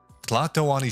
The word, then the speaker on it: Tlatoani: Rocking the Lato Ani Shroud. That's what it's called. That's what that, no, not that robe. Where'd Garfield go? Brother. I don't know where he went. Yeah. Tlatoani Shroud. That's how you pronounce it.